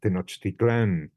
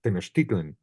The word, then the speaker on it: Tenochtitlan: That is, we in Spanish, it's Tenochtitlan, which is hard to say, because it has the stress at the end, has something unsatisfactory about it. But if you pronounce it in Nahua, it's just incredibly easy to say and beautiful, no? Tenochtitlan. You just move the stress and that terrifying X